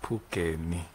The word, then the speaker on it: Phungeni: So just to make it easy, it's Phungeni. Okay, Phungeni.